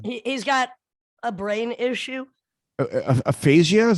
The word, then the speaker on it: aphasia: acting yeah yeah he's got a brain issue aphasia is how you say it i mean i